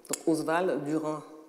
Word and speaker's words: Oswald Durand: et c'est oswald durand oswald durand comme ça se prononce l'auteur de rires et